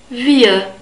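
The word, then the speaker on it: wir: the end s the word for wii is via via we have the V sound again because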